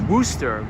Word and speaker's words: Worcester: Oh, Renz is pronounced Worcester, west of Boston, says RL.